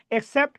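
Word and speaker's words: except: আর যেটা ব্যতীত, ইসিপিটি, এটা মানে হচ্ছে ব্যতীত। কি অর্থে? ব্যতীত অর্থে, এটা হচ্ছে আই কে।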